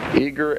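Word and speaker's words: Eagar: Eager, Arizona. Eager is spelled E-A-G-A-R. Arizona, 85925. That's the Harvest Trust. P.O. Box 1970. Eager, Arizona, 85925.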